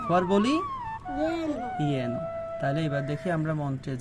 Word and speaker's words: যেন: যদি অন্তস্থ জ থাকে, অন্তস্থ জ থাকতে আমরা উচ্চারণ করব ইয়।